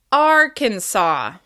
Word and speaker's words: Arkansas: Be sure to hold that first syllable and make it longer, louder, and higher in pitch. Arkansas.